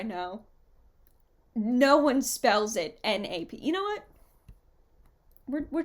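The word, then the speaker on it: knap: noise in stage combat this replacement noise is called a nap but it is spelled k naap Miss Rio the whole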